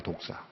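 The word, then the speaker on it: δόξα: 헬라어로의 영광이라는 단어가 우리말로 독사입니다. 독사. 독사라고 발음을 해요.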